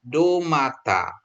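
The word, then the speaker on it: ντομάτα: V ketemu tab dia bacanya D. Jadi kalau delta tadi, delta yang tadi ini itu th gitu ya. Nah, jadi kalau untuk d ketemu tab ya menjadi ini do mata. Domata ya.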